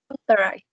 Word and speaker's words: authorize: So, for example, in the word authorize, if you clap on the most prominent syllable, or you make it sound louder, authorize. Which do you think is the most prominent syllable of the 3 of them? The first one, second one, or the last one?